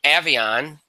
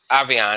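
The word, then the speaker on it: Aviron: kidnap an action thriller from Avion avianna I should say that's the way to pronounce it I'm sorry - opening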